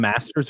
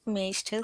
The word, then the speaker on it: maester: Do you pronounce them masters or maesters? Maesters. I pronounce them maesters.